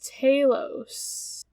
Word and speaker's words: Talos: is it Talos or is it Talos? I don't know. How do you pronounce fucking Greek names? I was going Talos, but I'm most likely wrong. It's Talos.